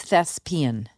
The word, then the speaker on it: thespian: Yeah it does by the way it's thespian. Okay. What did I say? As in lesbian.